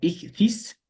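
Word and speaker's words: ἰχθύς: En griego esto se pronuncia ichthys.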